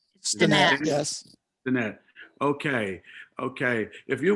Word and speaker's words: Steinat: Did I pronounce that right? Steinat, yes.